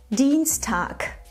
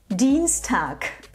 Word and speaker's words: Dienstag: Übrigens, achte bitte darauf, dass du im Wort Dienstag ein K am Ende aussprichst. Dienstag. Dienstag.